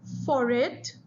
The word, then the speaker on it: forêt: As the time went on, French people stopped pronouncing the S, but they continued to write it.